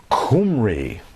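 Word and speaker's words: Khumri: and so forth that the Israelites were called kumry we didn't talk about that but that's earlier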